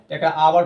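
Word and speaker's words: hour: जाएगी आ में दिया एच साइलेंट होता है ओ से पहले तो एच ओ यू आर है आवर पढ़ा जाता है ववर कोई पढ़ता है ववर पढ़ देता है नेस्ट में भी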